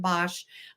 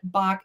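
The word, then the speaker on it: Boch: Some people pronounce it Bosch. I looked online and it says Bach.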